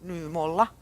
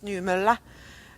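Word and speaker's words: Nymölla: to pronounce it right it's not new new mola like we in Finland say but new Milla and and this is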